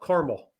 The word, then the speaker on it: caramel: lot of car caramel caramel try it caramel caramel you so you just dro the second a the second a is silent it is yeah okay